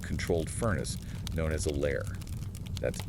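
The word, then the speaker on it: lehr: The newly formed glass pieces are carefully moved through a long tunnel-like controlled furnace known as a lair. That's L E HR pronounced lear. The lair.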